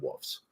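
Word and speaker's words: Wolfes: And I pronounce it that way because he spells it that way. Wolves being WF E. Um, well, wolf and then plural wolfs because the family, that's the family name.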